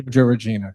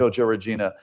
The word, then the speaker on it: JoJo Regina: And the performances that you got, and I hope I'm going to pronounce the names correctly, McKenzie Grace. McKenna Grace. McKenna Grace and JoJo Regina. JoJo Regina, correct. JoJo Regina.